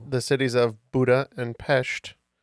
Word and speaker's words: Pest: And good job on the pronunciation pronunciation of Pesht.